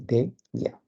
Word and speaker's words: déjà: Se pronuncia así, de ya.